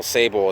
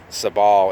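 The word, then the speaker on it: Sabal: other way the same goes for for example sable is actually supposed to be pronounced sub all in Latin and shamrock should be camera ops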